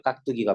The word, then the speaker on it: 깍두기: 음절이나 비슷한 음절이 아니면 각 두기 발음은 실제로는 된소리 해야 돼요 깍두기가 맞아요 뚜 몽 땅일까 몽